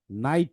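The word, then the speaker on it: night: নাইট কিভাবে হয়েছে, তাই না? তো আই এর পরে জিএইচ আছে। সো জিএইচ এর সাউন্ডটা সাইলেন্ট হবে, শুধু আইটা হবে। তাহলে আই ট, নাইট। এইভাবে নাইট হয়েছে। ঠিক আছে?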